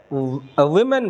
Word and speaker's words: women: नहीं, ओमेन नहीं होता है, ओमेन ऐसे लिखेंगे, फिर ओमेन है आदमी, तो ये उस प्रोनाउंसिएशन गड़बड़ हो जाएगा, गलत प्रोनाउंसिएशन है। वुमेन पढ़ेंगे हम लोग, इसको